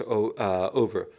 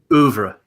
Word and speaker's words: oeuvre: The picture that I think the only picture that I fully embrace of Stanley Kubrick's Over is that how you pronounce Over? Oeuvre. Oeuvre. I lack JF's French cadence.